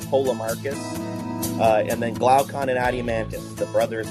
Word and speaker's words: Glaucon: how to pronounce these but I'll say my pronunciations keus and poom Marcus uh and then glaucon and adim mantis the brothers of of of